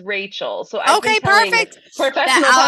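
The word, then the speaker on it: Rachelle: it relle spelled weird it's spelled like relle r a c h e l l e but it is Rachel so I okay perfect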